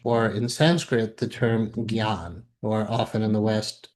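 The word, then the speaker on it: jñāna: you the best pronunciation janana. Um, but actually that ah is extra and the sound is more of a g. So in India they really corrected me this gan it means wisdom.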